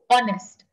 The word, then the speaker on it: honest: don't say the word you don't pronounce the word h so it's pronounced as o honest and you hear a